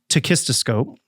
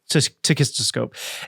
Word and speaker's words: tachistoscope: What happens in the study, it's using a machine that we used to use in cognitive research called a tachistoscope.